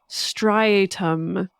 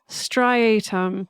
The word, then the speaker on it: striatum: this part of your brain called the ventral strium is what I'm going to call it or how I'm going to pronounce it but brain people out there sorry